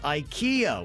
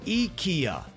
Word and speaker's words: IKEA: the people that says ikea when you're talking about the swedish furniture store that's apparently not how it's said how's it said ikea the i sounds like an e spell it e k